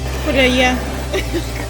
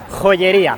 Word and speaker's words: joyería: Joyería. Es la palabra favorita de mi mujer. Joyería. ¿Cómo se dice? Joyería. No, joyería. Joyería. Casi.